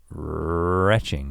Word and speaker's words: Rhetching: I mean, I might start a YouTube channel that's just called Retching, which is Rhett and stretching mixed together. It's not throwing up. Because it's spelled RHETCHING, retching. Rhett stretching 24/7.